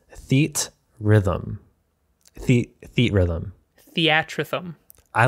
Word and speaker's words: Theatrhythm: This seems like a compound word of theater and rhythm, but if you look at it closely, it's Theatrhythm.